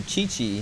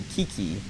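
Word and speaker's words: Qiqi: because one character chichi her name's chichi it's q-i-q-i and you pronounce it chi chi and it's like that doesn't make sense it would be like everyone in english would see that and say kiki or like quick we maybe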